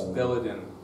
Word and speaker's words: Belledin: How do you say the name? Is it Belledin? It's Belledin.